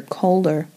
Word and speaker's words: Calder: the family uh the calder family not codder calder c-a-l-d-e-r had a different castle